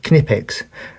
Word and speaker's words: Knipex: pronounced the name, and he said Knipex with a hard K. So all of those people who said it was Knipex, they can feel vindicated, because that is the correct pronunciation.